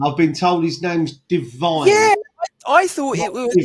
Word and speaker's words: Divin: I've been told his name's Divine. Yeah, I thought it was spelled with Divin. Sorry, is how it's spelled, but they did pronounce it Divine.